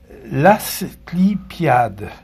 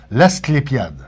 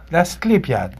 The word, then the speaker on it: l'asclépiade: Euh l'assade, j'espère que je le prononce bien. Non non. Ça s'appelle l'as et puis je l'ai pratiqué longtemps. L'asclépiade. L'asclépiade. Clépiade, c'est ça.